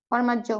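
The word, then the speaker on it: formaggio: এখন আমরা যারা এখানে সরি, একটু ফ্র্যাঙ্ক করেই বলি, যারা বলছি জিওর না আলে, তাহলে উচ্চারণটা এখন কি হবে? জর্নালে। জর্নালে। ফরমাজিও, কি হবে এটা? ফরমাজ্জ।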